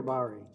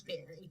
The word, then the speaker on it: Bahry: All right, is it Bahry or Bahry? You got it right the first time, Your Honor. It's Bahry.